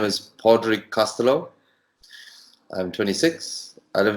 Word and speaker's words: Pádraig: First of all, it's pronounced Pádraíg, P-A, Fada, D-R-A-I-G. And you notice I said Fada after the first A. And a Fada is an accent in Irish, and it means long.